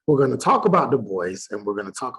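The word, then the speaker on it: Du Bois: Edward burgart bergart The Voice some people say Dubois but that's not how you pronounce so you do pronounce it the boys um he was born in Great Barrington Massachusetts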